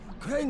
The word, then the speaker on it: Crane: Crane rhymes with train and brain and sane and grain and rain and plane and the other kind of plane and...